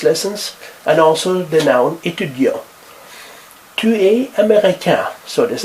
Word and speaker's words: étudiant: Jean est étudiant. You don't pronounce the T.